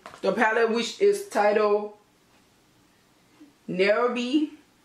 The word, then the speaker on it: Nairobi: So I'm taking a gold from the palette, which is titled Nairobi. Not Herbie. I'm gonna just spell it for you.